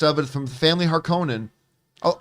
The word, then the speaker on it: Harkonnen: it from the family harkonnen oh i've always said harkonnen but but apparently they say harkinin but the the they say harkonnen in in david lynch's dune right but then pronunciations